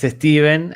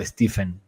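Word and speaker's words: Stephen: en reels de Instagram sobre la pronunciación de Steven O stepen sí no no no la sí entiendo que ocurre esa confusión fuera de de las fronteras de Estados Unidos o de Inglaterra etcétera de de las fronteras anglosajonas pero no en a efectos prácticos aunque se escriba pH se pronuncia Como si fuese una V no s dice o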